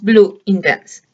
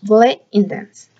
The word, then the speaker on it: Bleu Intense: En la compra de una Bleu Intense, la palabra correcta para pronunciar este perfume, muchas decimos Bleu Intense, pero estos productos son franceses, así que la manera correcta es Bleu Intense.